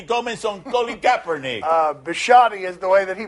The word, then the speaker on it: Bisciotti: this deepest guilty government some lowly gap Ernie bisciotti is the way that he pronounced his name that one's a little more